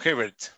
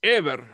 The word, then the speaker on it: Hebert: profesor hebert y verte se pronuncia o hibbert no ever fácil es así así lo pronunció a mi madre ever ever de uruguay